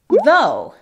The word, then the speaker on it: though: Luego tenemos though en IPA. Y tú lo puedes escribir though. Ya saben, tenemos esa TH con voz y sin voz. En este caso es con voz y suena exactamente como nuestra D en español.